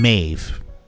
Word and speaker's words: Maeve: We just need Queen Maw back. Queen Maeve. I keep forgetting her name is pronounced Queen Maeve.